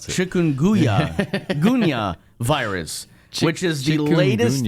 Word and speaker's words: chikungunya: Uh first of all, we're going to touch on the uh yeah, that's how you pronounce it. Chikunya ga virus which is the latest outbreak in China.